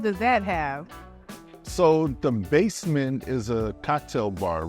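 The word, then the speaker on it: Bassment: Yeah, the basement. Basement, B-A-S-S, like bass, like in music. Okay. So play on words, basement, because it is under us, yes. Okay, so what does that have? So the basement is a cocktail bar, right?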